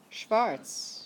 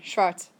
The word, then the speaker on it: schwarz: Brown is pronounced the same, it's spelled differently. Anybody know the word for black? Black. Schwarz. Schwarz. Mm-hmm. That's close. Cherokee. Okay. Everybody try that one. Schwarz.